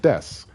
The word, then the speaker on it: desu: have words like uh you know desu is pronounced desu and names like sasuke or sasuke are pronounced